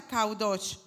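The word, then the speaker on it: קדוש: Déjenme esa por favor santo se pronuncia cudos significa Santo Santos santuario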